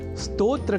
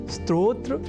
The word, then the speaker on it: स्तोत्र: यदि हम यह ध्यान में रख लें तो कभी भी स्तोत्र के स्थान पर स्त्रोत्र या स्त्रोत जैसे उच्चारण या लेखन हमारे प्रयोग में ही नहीं रह सकेंगे।